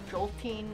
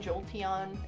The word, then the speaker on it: Jolteon: probably like two maybe even three ways to pronounce like every pokemon at this point yeah jolting jolteon okay if you say jolting you're just [